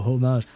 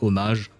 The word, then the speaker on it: homage: Yeah, it's just because there is like a very similar word in French which is pronounced homage, and so whenever I read that word, I think of the French way of pronouncing it, not the English, so I keep forgetting.